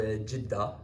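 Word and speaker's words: Jeddah: Uh, the Saudis have whatever that enormous structure is that they're building in Jedha or Jidda as they pronounce it.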